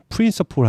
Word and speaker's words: principal: 프린스포 이거 발음도 똑같아요. 프린서폴 하면 우두머리라는 뜻입니다.